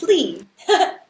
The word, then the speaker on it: Lie: It's spelled as lie, but it's Lee. I think that it's funny because I think I've met plenty of people with that last name, and Right? it's always pronounced Lee where I'm from.